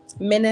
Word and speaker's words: Manna: You feel me, Manna? Exactly. Manna, am I saying it right? Manna, that's right.